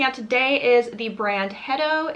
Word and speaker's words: Hetto: that i'm testing out today is the brand hedo it's spelled h-e-t-t-o and i've obviously already opened the